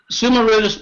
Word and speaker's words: Summa Rudis: Is that how you pronounce it, the Summa Rudis deck? Yes. Summa Rudis being the chief referee.